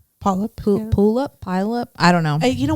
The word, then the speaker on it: Puyallup: It's Puyallup. Puyallup.